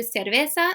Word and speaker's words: cerveza: deer siervo okay okay the key to this is if you are doing the the don't overdo it or else it sounds like really fake it's it's light okay it's not like